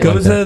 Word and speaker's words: Gose: called here goes nothing see that's how I pronounce it yeah yeah yeah here go nothing it's not fun goza the like actual you're the German go anything